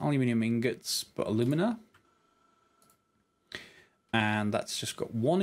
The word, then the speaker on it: alumina: And yes, I will pronounce that the American way, because there is an alumina.